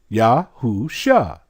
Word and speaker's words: Yahusha: only has five letters look at the top Yad hey wha shin ayan Yahoo sha they put an extra bar there so that you can get this pronunciation now check this out they